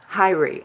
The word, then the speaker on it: Hyrie: You can call me if you want, but it's pronounced Hyrie. Okay. Mm, Hyrie.